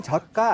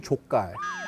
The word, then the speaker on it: 젓갈: 근데 발음 때문에 새우 젓갈, I say 새우 족갈. 굴 족갈.